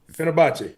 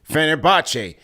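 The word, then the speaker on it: Fenerbahçe: He says Nicks and pronounce his team's name for me so I don't want to botch it. Fenner Fenerbachce Fenerbachce.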